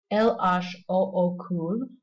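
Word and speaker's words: L.H.O.O.Q.: bottom wrote L-H-O-O-Q, or in French that will be pronounced El H O O cool, which when said quickly sounds just about the same as the French words for she's got a hot ass.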